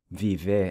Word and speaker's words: vive: So summarizing the present tense verb endings for regular ER verbs using viver as an example, we have vivo, the O pronounced with a U sound, vive, the E pronounced like an I, vivemos, the O in